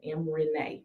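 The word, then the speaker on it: Em Renae: No, it is M is EM. Like Eminem. Like Yep. Eminem spell his name. Yep, EM. That's it. And then Renee is spelled RENAE. RENAE.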